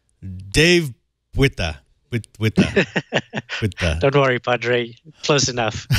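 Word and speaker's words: Botha: It's spelled B-O-T-H-A, but it sounds like? Buta. Dave Buta.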